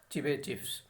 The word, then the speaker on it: Chebyshev: So here T is silent, so we have to spell it as Chebyshev.